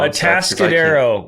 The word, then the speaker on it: Atascadero: And can you pronounce the place that you're from? Atascadero, which means like a mud hole, stuck in the mud.